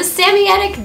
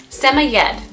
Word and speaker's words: Samoyed: So their name originated in Siberia as the Samoyedic dog. There are multiple correct ways of pronouncing their name depending on your world influences and where in the world you're from and your accent.